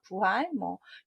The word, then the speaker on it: 부활: 정답은 부활입니다. 복활 아닙니다. 다시부, 살활. 한번 행하여지지 않게 된 것을 다시 하게 되는 걸 우리가 부활, 교회에서 많이 쓰는 부활절인데요.